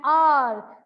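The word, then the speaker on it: hour: An apple, an eye, an uncle, an R. There we see that in this word, H-O-U-R, the H word is silent and the sound that we get is of a vowel.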